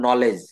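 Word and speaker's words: knowledge: ই ডি জি ই শব্দের শুরুতে কে এন থাকলে তার উচ্চারণ হবে ন এক্ষেত্রে কে ওয়ান উচ্চারিত থাকবে যেমন নলেজ তারপরে নাইট নাইট বানানটা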